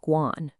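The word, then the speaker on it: 官: character here, is pronounced guan. But as luck would have it, a completely different character, the second one, which means government official, is pronounced the exact same way, Guan.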